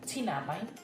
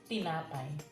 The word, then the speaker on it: tinapay: Your letter T should be T, tinapay. It's not tinapay, but it's tinapay.